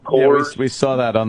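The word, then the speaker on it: Kohr's: It's Coors, K-O-H-R-S. I think it's pronounced Coors.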